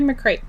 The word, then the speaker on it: McCreight: So, the next one is Friends Like These from Kimberly McCreight. I think I pronounced it right cuz it's like freight but with a C.